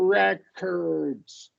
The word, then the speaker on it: record: we want to do records records as opposed to as opposed to verb we're going stress the second syllable and say record oh and then the